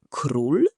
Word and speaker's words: król: Sprawdźmy słowo król. Król. Prawie dobrze. Spróbuj jeszcze raz. Król to król.